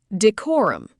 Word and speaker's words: decorum: Decorum, pronounced de-cor-um.